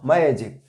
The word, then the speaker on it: magic: Magic, the word stress will come before ma, magic, and in this second word magician, the word stress will come just before g.